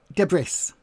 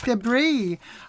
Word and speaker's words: debris: Um increasingly people say debris. And it used to really annoy me uh cuz I'd be like, "No, it's not debris. The S is silent. It's debris."